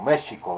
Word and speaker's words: México: que es méxico realmente o méjico como realmente se pronuncia con la equis entonces bueno aguas con